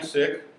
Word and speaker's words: Sikh: like-minded but we're lighthearted so I'm sick I mean that's how you pronounce it if I usually if